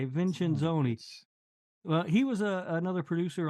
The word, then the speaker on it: Vincenzoni: Vincenzoni.